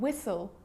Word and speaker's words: whistle: Now the letter H is often silent too, often when it's following a W. Like in the examples what, when, why, and whistle.